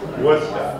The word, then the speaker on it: Worcester: Does everyone know how to pronounce Worcester properly? Worcester.